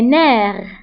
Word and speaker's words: nerfs: les nerfs les nerfs فبالنسبة للنير كتكتب اف ولكن ما كنطقوهاش وبالنسبة لهاد اس فهي نتا البلوريال حتى هي ما كنطقوهاش les nerfs les nerfs حب الشباب l'acné juvénile